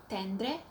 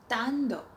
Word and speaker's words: Tendre: I used to call it Dior Tendre, but it's supposed to be Dior Tando.